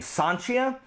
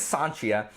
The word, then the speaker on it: Sancia: main character here is a a thief named sanchia and it looks like sancia which is what